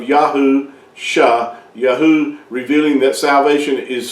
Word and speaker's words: Yahusha: It's not Shua, it's Yasha. And it means salvation or deliverance. So when you see that when you put those two together, you come with the pronunciation of Yahusha, Yahu, revealing that salvation